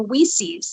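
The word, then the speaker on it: WiCyS: i like that i i learned about the pronunciation for we sees the other day woman in cyber security is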